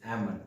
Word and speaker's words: almond: It's not almond, it's almond, because L letter is also silent in this word.